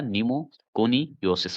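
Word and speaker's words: pneumoconiosis: मतलब कि पी लगा हुआ है। तो ये ध्यान रखिए पी लगने से कोई फायदा नहीं। कोई लगने से कोई दिक्कत नहीं है। बस उच्चारण होगा नीमो कोनियोसिस होगा।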